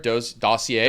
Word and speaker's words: dossier: How do you pronounce that word? Dossier.